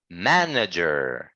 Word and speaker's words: manager: it's the first one the first syllable is stretched correct manager right good so our voice needs to be like uh higher on the first sound okay manager good that's